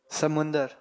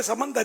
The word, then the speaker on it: سمندر: سمندر، سمندر، سمندر، سمندر جواب درست ہے۔ سبحان اللہ، ماشاءاللہ۔ سمندر ہمارے کہتے سمندر ہی ہے، لیکن اصل تلفظ ہے سمندر۔ سمندر اس کو بولتے